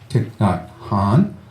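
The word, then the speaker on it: Thich Nhat Hanh: then the other names are maybe more familiar tick not Han and I'm proud I can say his name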